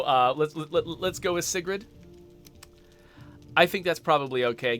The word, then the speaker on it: Sigrid: favorite Norwegian pop star I think technically it's pronounced like Sigrid or something like that um but uh I speak English and I don't think I can do a good job of consistently getting the Norwegian pronunciation right so uh let's let's